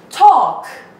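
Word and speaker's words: talk: تاک تاک، بچه ها ال تلفظ نمیشه، ال بهش میگیم سایلنس، یعنی دیدی موبایلتون رو سایلنت میکنی، یعنی خاموش میکنی، یعنی صدا نمیده، این ال اینجا سایلنته. تاک تاک تاک، صحبت کردن.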